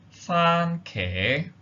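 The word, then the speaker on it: 番茄: For example, for the English word tomato, the Yutping is as follows: fan ke. Now, as you can see, you have the tone 1 for the first word, fan, and then tone 2 for the second word, ke.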